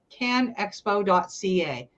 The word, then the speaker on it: CanExpo: that what it is can expo.ca I have to make sure I pronounce it right because there isn't a second a there um so we've been